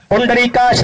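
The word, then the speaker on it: पुंडरीकाक्ष: पढ़ जाएगा पुंड बव ये उसका सही उच्चारण और सही तलफ यूं है पुंडरी काश ने बताया विष्णु यश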